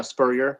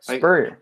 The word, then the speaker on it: Spurrier: No, yeah, Spurrier. Spurrier.